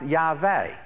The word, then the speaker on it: Yahweh: It's probably pronounced Yahweh is perhaps the best pronunciation.